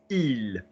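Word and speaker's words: ils: The they is il. Same again, because we don't pronounce S's in French unless we've got a vowel after them.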